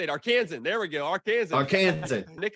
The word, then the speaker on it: Arkansan: Arkansas a lifelong how do you say it arkansan there we go Arkansas Nick has done political